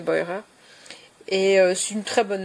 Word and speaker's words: Beurer: Euh al je sais pas si on dit Burer en français mais je pense qu'elle doit se prononcer Boyer.